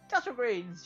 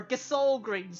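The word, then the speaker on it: Gysahl Greens: Castle greens, yay. Or Gasol greens, sorry, that's the proper pronunciation after I learned that out in Lightning Returns.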